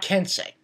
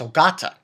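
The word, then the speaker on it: Ogata: got his name wrong his name is not kensei it's oata and I didn't actually know about this so yeah thank you for telling me that so oata that's his real name hence he's the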